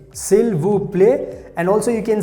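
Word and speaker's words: s'il vous plaît: in french language we also have the word silvu play silver play and also you can say silter play silver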